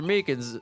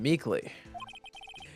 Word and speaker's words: Meekins: long voice poor guy I keep getting his name wrong and calling him meekly he told us something